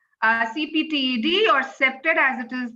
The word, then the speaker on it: CPTED: So as we notice our title has three main components to understand before we start discussing septed uh CPTED or septed as it is pronounced integrating of public safety and security and lastly smart cities.